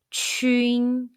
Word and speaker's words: qun: When you see pinyin jun, the pronunciation is jun, and qun pronunciation is chun.